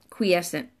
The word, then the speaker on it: quiescent: looked it burn ethically it's kW EE mystic eight the qu i e KW EE if you just swap those out in your head quiescent right that's the easiest way to pronounce that so what does quiescent